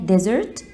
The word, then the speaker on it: desert: وناخد بالنا الفرق بقى بين desert وكلمة حلويات اللي بتبقى في المينيو اسمها desserts desserts desert، يبقى desert و desert desert و desert، في اختلاف كبير جدا، بقولها the desert the desert the desert.